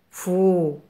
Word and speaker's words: fou: F avec le son ou se prononce fou. Fou.